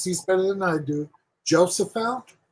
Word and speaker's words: Jophiel: Help me, Jane, because you pronounce these better than I do. Jophiel. Jophiel.